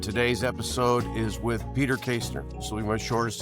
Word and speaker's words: Kaestner: Today is Peter Kaestner, and if you're wondering, that is the correct way to pronounce it, unless you're German.